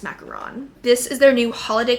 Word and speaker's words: macaron: from Le mini macaron I never know how to say it macaroon macaron I think it's macaron this is their new